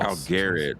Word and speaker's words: Algared: Algared, that's how you say it.